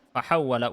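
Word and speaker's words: فَحَوَّلَ: Fahawwala wawunya tasydid ya.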